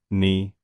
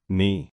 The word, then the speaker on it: knee: Again, the K is silent. It's knee, not knee.